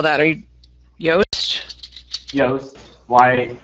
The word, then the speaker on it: Yoast: spell that are you yast yast why it's like toast with a y yeah that's it awesome